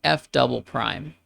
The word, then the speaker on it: f double prime: The result is written like this, and it's pronounced f double prime. F double prime of x.